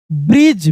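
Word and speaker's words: bridge: दे स a small ब्रिज बी आर आई डी जी ई डी और जी एक साथ रहता है तो डी साइलेंट हो जाता है जी को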